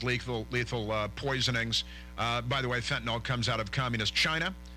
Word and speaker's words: fentanyl: recently who said, listen, I don't like the way you pronounce fentanyl. It's not fentanyl, it's fentanyl. And I had a nice conversation with him. And, it's true. It's true enough. So fentanyl, it's a YL at the end.